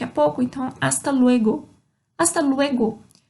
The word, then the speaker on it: hasta: Hasta luego. Começa com H, mas eu não pronuncio o H nenhuma dessas, tá bom?